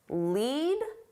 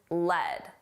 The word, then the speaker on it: lead: Two pronunciations, lead and led.